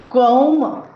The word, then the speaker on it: comb: Whenever we find the spelling MB at the end of any English word, the B must be a silent letter. Examples: thumb, bomb, tome, claim, comb, ila, right?